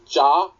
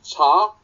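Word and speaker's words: Jaa: Now, in English, you would probably call him Ja Phanom, which most people do because it's spelt J-A-A, but it's actually said as Cha in Thai.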